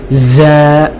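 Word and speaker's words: ز: অনেকে আমরা বলি না, যা তুই চলে যা, এটা হলো মোটা, একটু পাতলা করে বলতে হবে।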